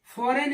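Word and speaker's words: foreign: हो गया ऐसे ही एओ आरई आईजी एन फरन इसको पढ़ते हैं जी यहां भी क्या हो गया साइलेंट हो गया ऐसे ही आरई एस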